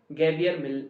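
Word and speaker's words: Javier: गैवियर मिलने, तो गैवियर जे से होती है हाँ स्पेलिंग गैवियर, तो देख लेना क्या है गैवियर मिलने, JAV होता है, तो ये चीज ध्यान में रखना।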